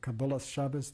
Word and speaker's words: Kabbalas Shabbos: Kabbalat Shabbat or Kabbalat Shabbos, depending on which particular pronunciation of Hebrew you prefer, is the welcoming of the Sabbath.